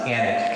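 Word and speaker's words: Alnwick: not this is pronounced Annex Castle Let's ignore that L because this is actually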